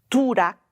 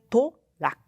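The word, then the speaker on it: トラック: do caminhão do inglês não é turac mas é torac tá torac n drug que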